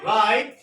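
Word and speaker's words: write: word শুরু হলে ডবলিউ আর দ্বারা কোন ওয়ার্ড শুরু হলে হলে ডাবলিউ এর উচ্চারণ হবে না ডাবলিউ এর উচ্চারণ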